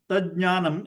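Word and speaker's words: tajjñānam: other, you get this, tajnanam. Now the question is how to pronounce that. Now this tajnanam is, you have to pronounce it like ta, j, j, nya, na.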